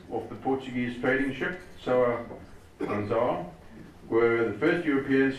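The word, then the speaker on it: São Gonçalo: São Gonzales. as in pig. São.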